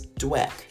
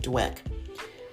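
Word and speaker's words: Dweck: According to Carol S. Dwick, if I pronounced her name right, Dwek.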